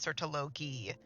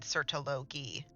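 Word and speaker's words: Surtalogi: And now both Skirk and this guy have said it like that, and that's not how you pronounce that name. It's Sertologi. Even Paimon earlier said Sertologi.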